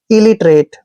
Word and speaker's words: illiterate: आई का उच्चारण यहाँ पर ई करेंगे, LL को ले पढ़ना है और आई को ई की मात्रा पढ़ते हैं। इली, ऐसे इली। और TE का उच्चारण टे करेंगे, आर को रे पढ़ेंगे, ए को ए की मात्रा, टी का उच्चारण क्या करेंगे, ट्रेट।